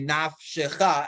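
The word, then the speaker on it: נַפְשְׁךָ: Again, for the sake of our reading, we're reading it nafeshecha, but in the siddur it would be nafshecha, and the fe would remain a silent and not pronounce it.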